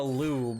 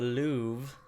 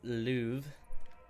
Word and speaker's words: Louvre: It's not the lube, alright? It's the Louvre. L-O-U-R-V-E, pronounced Louvre.